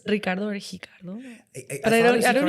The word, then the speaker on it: Ricardo: Do you pronounce it as Brazilians do? Like Ricardo? No. Or no, it's Ricardo. It's still kind of Spanish, which is funny because